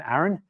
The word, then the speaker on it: Aaron: mostly Australian English um my name when I use with American models it's always Aon no it's A's not ease um not Erin I'm Aaron hard a not soft a uh